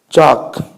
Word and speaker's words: chalk: Chalk. Spelling of chalk is C-H-A-L-K. No? L is silent.